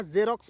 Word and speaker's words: Xerox: हम लोग क्या पढ़ेंगे, इसे एक्सोरॉस पढ़ेंगे या जेरोक्स पढ़ेंगे।